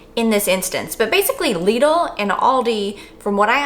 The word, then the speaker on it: Lidl: I said, "Do you say it lidle or do you say it lidle?" And the Googler told me it was lidle. So hopefully the Googler is correct in this instance, but basically Lidle and Aldi from what